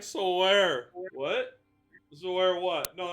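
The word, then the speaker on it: Weyr: Or where? Yep. It's pronounced where, as in where are we?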